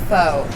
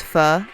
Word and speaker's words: pho: it's mispronounced so badly everyone says pho oh yes yeah oh thanks to the fur race fire yeah not only will you finally learn how to properly pronounce pho you can eat it